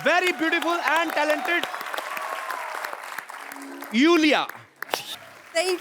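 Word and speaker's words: Iulia: Uh pronounce यूलिया। यूलिया। एंड the spellings are आई यू एल आई ए। सो, आई आई यू। You know I mean why I everyone is calling me लूलिया लोलिया बट लोलिया लोलिया आई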